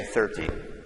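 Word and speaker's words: thirty: So on this number we would say 13, and then the stress here is on the first syllable. We say 30.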